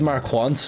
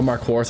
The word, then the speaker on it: Marquardt: I could trade Marquant, or Marquardt, I should say. I keep pronouncing his name. I'm mispronouncing his name.